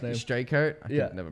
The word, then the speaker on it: Streichert: Straker. Straker. I could never pronounce that.